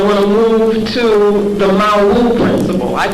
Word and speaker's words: Mawu: Now I want to move to the Mawu principle. I call it the Mawu principle. And Mawu is a term that we get from the